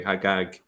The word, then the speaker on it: Al-Hajjaj: Hagag is the Jewish version of that, and it's still pronounced that way, Hagag, in some Arab countries, such as Egypt.